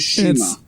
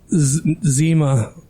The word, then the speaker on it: CIMA: This could be fucking awesome, and his name is Shima. Zima. It's Shima. Zima. Shima. Jami. Kima. Chemo. Kima. The C is silent.